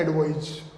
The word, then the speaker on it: advise: okay friends, यहां जो pronunciation है इसको तो बोलते हैं एडवाइस, जबकि नीचे वाला जो वर्ड है वो कहलाता है एडवाइज, जबकि ये ऊपर वाला